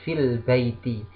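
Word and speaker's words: في البيت: Kita contohkan di sini adalah fi al-baiti menjadi fil baiti.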